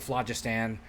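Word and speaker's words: Phlogiston: the flagist and the flagistan I've always heard it pronounced flagistan um which is like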